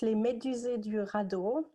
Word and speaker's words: Les Médusés du radeau: your theater yes of course so so it's limited eurado and it's a french theater ensemble and we